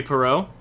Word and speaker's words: Poirot: I did need other people to go Poirot.